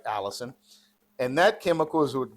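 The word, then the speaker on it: allicin: It's not spelled like Allison, but it sounds like Allison.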